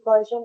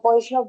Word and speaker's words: Poisson: with classical mechanics using Poisson bracket and or Poisson bracket that usually n is not pronounced and commutators, Arnfest theorem, quantum mechanics and classical mechanics analogy.